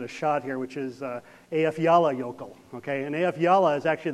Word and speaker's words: Eyjafjallajökull: Now, this has got this funny name to it that nobody can ever pronounce, so I'm going to give it a shot here, which is Eyjafjallajökull.